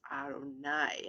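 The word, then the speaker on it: אֲדֹנָי: But we learned that this is pronounced Adonai out of respect, because this is the name above all names for God.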